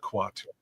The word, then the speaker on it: Quato: It's pronounced quatu.